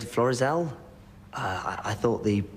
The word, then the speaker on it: Florizel: It's Florizel Street. This is Rover's return. Elsie Tanner's living room. Florizel. I beg your pardon? Oh, I'm sorry. It's just that... Yeah? Well, you said Florizel?